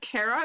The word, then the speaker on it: Cara: oh Phil Candide of Cara is pronounced like character or Charizard oh Tara that's interesting so I pronounce it Cara huh interesting undertale is